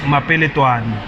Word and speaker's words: Mapele Twani: Well look, Mapele loko hi vula in full it's Mapele Twani. Mapele Twana. I'm tough to vela kwini guys. Mapele Twani vula syllables.